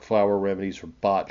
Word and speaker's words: Bach: The plant is used in Bach flower remedies or Bach flower remedies. They tell me is how it's supposed to be pronounced, but I'm still not quite sure about that.